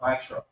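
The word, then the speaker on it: מעשר: Means 10 in the Hebrew and pronounced Maisha.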